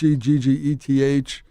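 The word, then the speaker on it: Hegseth: It's Heggeth, who was definitely on the ropes.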